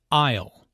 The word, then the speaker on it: aisle: who does which task aisle notice the silent s in isle an aisle is an